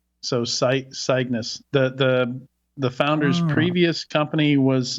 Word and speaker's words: CYGNVS: I just have to make the V a U. So Cygnus.